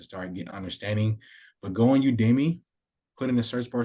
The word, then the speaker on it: Udemy: it's called udemy U UD Demi I'm probably saying it wrong myself uh UD Demi y'all might have to excuse my language there but it's called udmi I think it's actually pronounced udmi but I would leverage